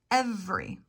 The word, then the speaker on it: every: that e every every looking at this word you might think it has three syllables and pronounce it every and that's okay but again vowel omission really working on that accent reduction every same with family technically